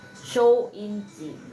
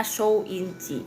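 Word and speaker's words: 收音机: Kalau radio itu bacanya show inci ya. Jadi bacanya show inci gitu ya.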